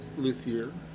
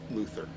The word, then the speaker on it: luthier: Luthier. Luthier. And there's multiple pronunciations, but we'll stick with luthier because it's more the American version. French is luthier, but and if you're from the South, Luther.